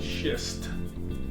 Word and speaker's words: schist: layers this rock is called schist sure he pronounced it correctly schist s CH is just this one happens to